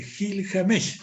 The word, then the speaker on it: Gilgamesh: por la epopeya de Gil James está bien pronunciado así es y yo he estado